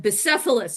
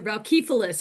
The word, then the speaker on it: Bucephalus: So, talk some about your current project and Bucephalus or Boukephalas, however you want to say his name. Boukephalas.